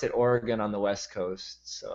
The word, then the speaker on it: Oregon: Oregon basically well I okay I still say Oregon it's it's Oregon they pronounce it Oregon on the west coast and so I need